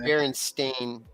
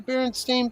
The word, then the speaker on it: Berenstain: Berenstain?